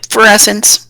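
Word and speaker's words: Ferasan: They're not called Cajun, they're called Frasians. Did I pronounce that right? Yep, Pharasans.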